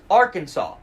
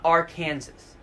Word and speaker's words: Arkansas: into this let's clear some things up its Arkansas not Arkansas the Arkansas legislature passed a bill in 1881